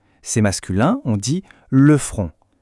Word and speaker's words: front: C'est masculin on dit le front. Attention à la prononciation. Ici c'est une voyelle nasale. Le front. Le N et le T à la fin sont muets. On ne les entend pas.